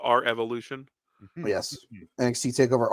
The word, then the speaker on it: R Evolution: here's the thing so Revolution is February it's pronounced our Evolution yes NXT takeover R Evolution um so sitting